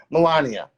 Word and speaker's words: Melania: And it all started because I can never pronounce the first lady's name right. Melania Trump? Melania, thank you.